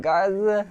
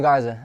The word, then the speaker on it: Garza: name i was like is it gaza not garza it's definitely garza uh uh i went